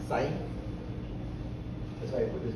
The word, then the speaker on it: psi: So it's pronounced psi. It's a Greek letter. It's psi.